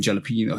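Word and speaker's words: jalapeño: it wrong too cuz she ain't saying yo at the end is jalapeno jalapeno oh she says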